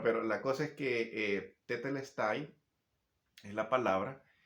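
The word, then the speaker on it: τετέλεσται: Y que diga eso, consumado es, que en griego es tetelestai, así se pronuncia en griego. Bueno, no sé si está bien pronunciado porque hace muchos años no hablo griego. Bueno, pero la cosa es que tetelestai es la palabra y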